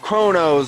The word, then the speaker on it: KronOz: rcx show episode 20 featuring my special guest chronos right that's how you pronounce it yes sir i thought so i